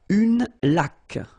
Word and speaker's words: laque: Une laque. Remember the rule? When you get this QU, well, U is not pronounced, so you get k, like that.